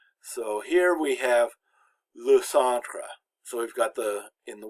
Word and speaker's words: centre: And then we've got tre, which again, the E is very short, le centre. So it's pretty much only one syllable long.